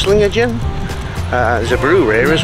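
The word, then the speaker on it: Sligachan: see an Old Bridge Slinger chin I think it's pronounced sling again uh there's a brewery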